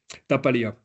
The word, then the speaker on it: Tapaléa: Ça s'écrit comme ça. T-A-P-A-L-E-A. Tapaléa.